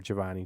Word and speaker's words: Jhovany: Or Giovanni, JHOVANY with an H because my parents are Mexican and couldn't spell, and they sounded out phonetically in the hospital.